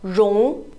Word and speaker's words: 绒: Now this one is called 绒. 绒. 绒. R sounds like R, R, R. O and G sounds like ong, ong, ong. R, ong, 绒. But this is the second tone.